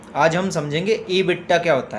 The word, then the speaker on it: EBITDA: इबिटा ई बी आई टी डी ए ईबिट है ना T silent हो गया।